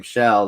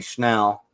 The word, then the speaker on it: Shell: Like my last name, Shell, they say Schnell.